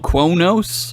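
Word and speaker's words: Qo'noS: Right, which is how humans pronounce Quonos.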